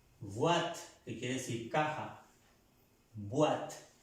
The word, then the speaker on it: boîte: Boîte, no vous. Boîte, no, boîte. Pronunciando bien la letra B.